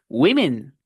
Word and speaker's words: women: Women. Vean que el fonema que tiene escrito es una I corta. I. Women. Women. Así se pronuncia la palabra mujeres en inglés con I corta.